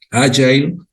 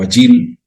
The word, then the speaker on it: agile: Entonces, en inglés, pues nació este término, agile, se pronuncia así en Estados Unidos, o agile en el inglés británico, nació y se puso mucho de moda este término, ¿no?